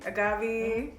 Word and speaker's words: agave: we have the trace Agave AG agabi I just learned the proper way to say that today Trac aabies um margarita